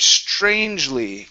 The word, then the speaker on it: strangely: Okay, give me a good CHR here. Instead of strange, strangely. strangely, Okay, almost, almost. So just like you did up here at the beginning with the word tried, tried was awesome. Okay, that TR. You want to do the same thing here.